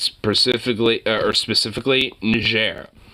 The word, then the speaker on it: Niger: it's specifically or specifically Niger because it's a French Colony historically so it's a French word so I know how